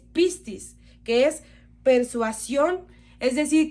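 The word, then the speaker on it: πίστις: Su pronunciación en griego es pistis, que es persuasión, es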